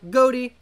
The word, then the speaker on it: Ghoti: the word Nation so goatee actually supposed to be pronounced as fish it's a bit of